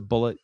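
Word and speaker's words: Bulleit: That's gonna be bullet bourbon. It's not ble. It's not a French bourbon. Look, if you want me to pronounce a bullet, get rid of that damn eye out of it.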